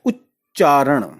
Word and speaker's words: उच्चारण: जैसे हम शब्द ही लेते हैं उच्चारण, उच्च, उच्च, इसमें आधा च है लेकिन ऊ के साथ जोड़ा गया है, उच्चारण।